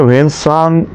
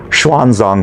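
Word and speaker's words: 玄奘: वेनसांग जिन्हें हम भारत में वेनसांग के नाम से जानते हैं और वास्तव में उनका चीनी उच्चारण शान जांग होता है।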